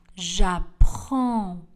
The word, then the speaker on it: j'apprends: Le D et le S dans le verbe ne seront pas prononcés. J'apprends.